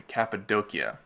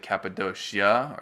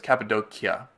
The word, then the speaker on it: Cappadocia: in late November 2014 we traveled to capid doia a lot of people pronounce it caposa or cap it's capid doia it's not actually a city but rather a